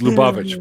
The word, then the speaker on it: Lubavitch: It's Lubavitch, by the way.